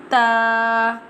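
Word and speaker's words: ت: Ta ta ta pronounced from the tip of the tongue touching the roots of the top two front teeth.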